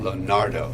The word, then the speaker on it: Lonardo: Did I say that right? No, how do you say that? Lonardo.